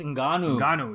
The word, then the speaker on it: Ngannou: Francis Ngannou.